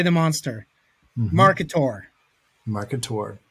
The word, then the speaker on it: Marketaur: the monster market tour market tour like a dinosaur a marketer so it's